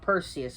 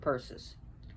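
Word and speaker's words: Perses: Not Perseus, but Perseus.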